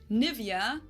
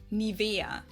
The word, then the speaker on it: Nivea: English native speakers usually say Nivea, Nivea. In German, we say Nivea. Yeah, in Latvia we say Nivea also. Nivea. Wait. We say Nivea. Nivea, so the emphasis is on the E.